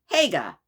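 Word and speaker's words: Haigha: His name is Higa. He pronounced this so as to rhyme with mayor. Ah, so his name is Hagga.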